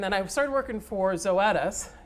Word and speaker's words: Zoetis: i started working for zoetis rhymes with lettuce by the way if you have trouble looking at it knowing how to pronounce it um but it you